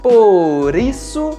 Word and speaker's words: por isso: Por exemplo, nas expressões por isso, por exemplo, por acaso, nós vamos pronunciar por isso, por exemplo e por acaso.